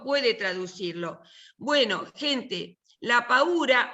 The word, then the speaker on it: paura: Te puedo corregir, es la paura, Esther, digo, perdón. Con el acento en la U.